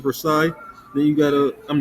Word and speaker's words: Versailles: the second one is versel or Versa I'm not sure how you pronounce I think it's Versailles then you got a